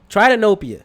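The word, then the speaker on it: tritanopia: butcher this ready hey Google how do you pronounce t RI ta n o p IA okay thank you google try to nope you okay try to know PA by far as the best colorblind filter simple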